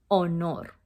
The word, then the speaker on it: honor: you don't say honor you say o no like the h is not there the word honor in spanish you say that o nor so alto honor is